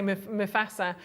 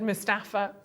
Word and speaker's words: Mufasa: I didn't say Mufasa. I said Mustafa.